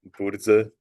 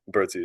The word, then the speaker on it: Birdsey: I pronounced it Birdsey. And tell me how that last name really gets pronounced. It really gets pronounced Burze, but I don't expect anybody to try that. Bertie is completely fine.